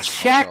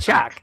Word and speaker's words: Shaq: It was Shock. It was Shaq. Shaq, not Shock.